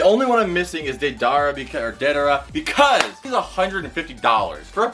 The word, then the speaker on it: Deidara: I say Deidara, but some people say Deidara.